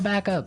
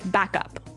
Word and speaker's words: backup: point out that here the pronunciation and stress of this phrase is really important hey yes yes you have to say backup Backup backup yeah so both words are stressed at about the same level hey mhm back up